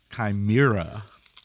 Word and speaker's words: Chimera: The WMD Chimera, or as I have seen with the phonetic pronunciation on their site, Chimera, apparently.